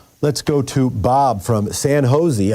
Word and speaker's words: San Jose: Let's go to Bob from San Jose. I think that's how you pronounce it. Maybe it's San Josie. Go ahead, Bob. Yeah, San Jose. Okay. Okay, that's right.